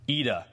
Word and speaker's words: Ida: saw the movie AA it's spelled Ida ID but I think it's pronounced AA is about a noviciate